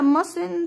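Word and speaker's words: mustn't: فلازم تعملها طيب هنا ماسن التي بتكون سايلنت في النطق هنا لو قلناها فلكن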